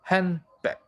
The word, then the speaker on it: handbag: For example, most American English speakers don't pronounce the D in handbag.